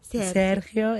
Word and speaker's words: Sergio: Okay, let's put it this way, because tonight we have a guest, Bolivian pianist Sergio. Is that the right pronunciation? Yeah, that's Can I do that? Actually. Sergio. Sergio, is that right?